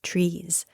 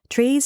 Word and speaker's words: TRIZ: is typically considered part of a system called trees theory of inventive problem solving trees is a systematic way to understand problems and